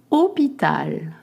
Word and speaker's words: Hôpital: Hôpital. Hôpital. You don't pronounce the H and you just make the sound O.